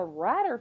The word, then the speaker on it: Ratter: Okay, next one, Baloney by the Ratter family. Rhymes with ladder.